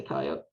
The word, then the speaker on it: coyote: I just say coyote. I'm just gonna say, so as a New Mexican, as a Pueblo, what are you doing? You pronounce the E. It's an E. It's at the end of it.